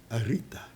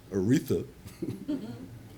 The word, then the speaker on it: Aretha: tingle every time he'd pronounced my name arita never could pronounce the h Aretha why almost sad way